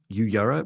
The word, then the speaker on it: Uyara: So they were very tall, and their name is, you pronounce it Uyara, which I found quite hard to spell and say.